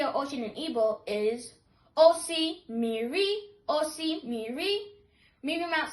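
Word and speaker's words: osimiri: To say sea or ocean in Igbo is osi miri, osi miri.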